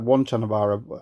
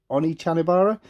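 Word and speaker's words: Onechanbara: For some reason, they dropped an E when it came over to England. So it looks like one Chanabara. I think how you say it is actually Oni Chanabara.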